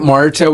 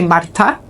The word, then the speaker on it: Marta: Now your name, is it Marta with a hard T or Marta? Like, it's with a hard T, yes. Hard T, okay. Yeah, in Portuguese you say Marta. So the T it is, pronounced, yeah.